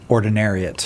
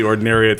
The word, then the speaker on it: Ordinariate: It sounds really close to the Ordinariate form. Just a little syllable, right? Ordinary versus Ordinariate.